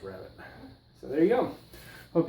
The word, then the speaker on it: rabbet: it there you go a perfect rabbit or if you're in England a rbit but it's pronounce rabbit so there you go